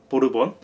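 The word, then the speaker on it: Borbón: 부르봉의 스페인 발음이죠. 보르본.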